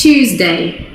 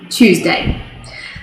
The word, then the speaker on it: Tuesday: when in reality it's tuesday choose like i want to choose what i'm having for breakfast this morning tuesday not tuesday tuesday and then the last